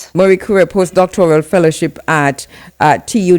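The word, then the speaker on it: Marie Curie: Um we didn't say this uh before but uh from 20 21 to 2023 and pronounce this for me you held a Marie um Kuri yes Marie Kura post-doctoral fellowship at uh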